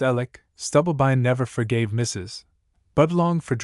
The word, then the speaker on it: Alex: Mrs. Alex, pronounced Alec, Stubblebine never forgave Mrs.